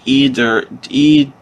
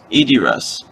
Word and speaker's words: Idirus: The eyes are pronounced like igloo. Oh, so it's like Idirus. Idirus. Okay, that makes sense.